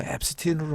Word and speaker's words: Epstein: 자, Epstein 발음은 또 앱스틴으로 하더라고요.